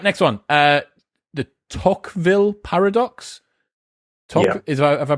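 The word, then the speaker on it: Tocqueville: it was unlucky right next one uh the tockville paradox is about have i pronounced that right yeah tockville paradox as the living standards in a society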